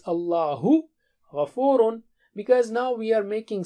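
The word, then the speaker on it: اللهُ غَفُورٌ: Allahu ghafurun. Allah is forgiving. Okay, and when you say that, you should say it like, show it like this. Allahu ghafurun.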